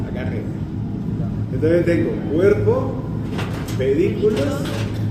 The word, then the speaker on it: pedículos: Entonces le va a decir los pedículos. Los pedículos. Pedículos. Acento en la I.